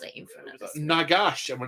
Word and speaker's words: Nagash: Ghoul Slayer and heard the pronunciation of Gotrek saying Nagash to rhyme with Fagash.